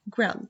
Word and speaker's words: grill: I say it grill. So double consonant is said only one single sound, not two.